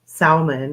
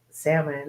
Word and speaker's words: salmon: it it's a salmon I always like to say um salmon which is funny but I know it's supposed to be pronounced salmon I guess I don't know I guess there's a silent L out there somewhere but it was delicious